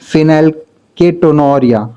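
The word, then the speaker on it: phenylketonuria: अ इसका कुछ प्रोनाउंसिएशन ऐसा होता है कि फिनाइल केटोनोरिया है ना ऐसा कुछ इसको बोला जाता है।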